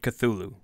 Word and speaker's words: Cthulhu: The truth of the matter is, this is an alien name meant to be spoken in an alien tongue, so no answer is truly right. Since Cthulhu is the most common pronunciation, that is what I will continue to use.